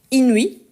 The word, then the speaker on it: inuit: On peut avoir, par exemple, inuit. Donc, on doit bien prononcer le I.